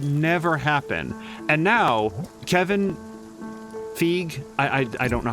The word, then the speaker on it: Feige: me based on so I've always heard it pronounced like Kevin um Kevin um Fe but then I started hearing people call it feige I will say that